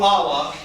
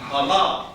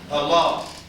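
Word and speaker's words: ἀλλά: Don't go Allah. It has nothing to do with Islam. Don't say Allah, say Allah. Can you see the accent mark? Allah.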